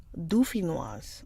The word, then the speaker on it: dauphinoise: Okay, let's do French. Dauphinoise. Oh, dauphinoise.